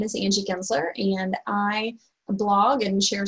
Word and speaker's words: Gensler: really excited to welcome our next guest Angie Kinsler am i pronouncing that correctly oh that's right welcome Angie